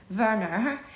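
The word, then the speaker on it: Werner: But CS Lewis and his brother Wernner had Verer. Oh, that's how you say it in German, not in English.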